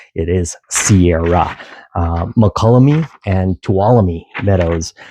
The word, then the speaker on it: Sierra: It's already plural without the s. So, it's not Sierra's. It is Sierra.